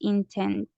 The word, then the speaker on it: intended: that the future is intended. Yes. Teacher, how can we pronounce that last word? Intended. Intended, okay. Thank you. Yes, you make another syllable at the end.